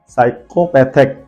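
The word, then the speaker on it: psychopathic: पी दिया गया है दैट इज वय P silent psychology then last and not least साइकोपैथिक साइकोपैथिक साइकोपैथिक का मतलब होता है मनोचिकित्सक बल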